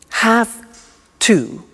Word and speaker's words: have to: pronunciation I have to notice I don't say V I say F have have it becomes